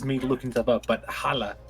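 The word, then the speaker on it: halla: looking stuff up but holla is is how you say hello it's it's it's h-a-l-l-a with an accent i don't understand and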